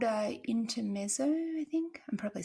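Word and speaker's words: Intermezzo: Yeah, it's called uh Inter Meo, I think.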